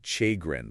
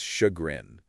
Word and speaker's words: chagrin: I used to pronounce it chagrin for the longest time until someone corrected me. It's shagrin.